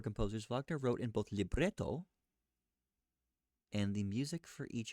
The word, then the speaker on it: libretto: Unlike most opera composers, Wagner wrote in both libretto and the music for each of his stage works.